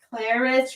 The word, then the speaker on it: Claris: Donna Cindy K candy Claris rhymes with Paris by the way there